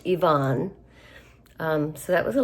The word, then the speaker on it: Ivan: The middle brother is what I would call Ivan, but it's pronounced Ivonne.